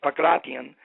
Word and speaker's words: pankration: In 1993, the Greeks said, hey, look, let's bring pankration back, or the way the Greeks pronounce it is pakration, and let's come up